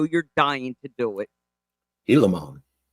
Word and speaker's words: Gilamon: I was all over that G. I was pronunciating that G hard. Gilamon. Till you phonetically sounded it out for me with the H-E-E-E.